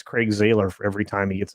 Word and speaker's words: Zahler: It's Zahler.